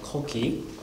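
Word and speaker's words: 古稀: So this is pronounced Koki.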